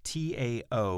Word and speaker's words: Taoists: the english spelling is t-a-o-i-s-t-s taoists spelled with a t but pronounced with a d the chinese taoists explored